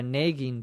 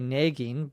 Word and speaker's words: nagging: nagging pain or a nagging pain in my dialect in Minnesota here in the United States I say Nagin but the more common pronunciation the more standard pronunciation is probably nagging nagg nagging see it's